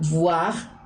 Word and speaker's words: voir: Y en francés la pronunciación adecuada de la V o B cambia, porque no es lo mismo voir que boire.